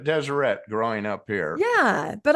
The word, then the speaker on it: Deseret: how do you pronounce is it Deseret or Desiree I have heard it both ways I've always heard it deset growing up here yeah